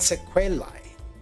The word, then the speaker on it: sequelae: How to pronounce? Sequela. Sequela. Okay, so, and sequelae.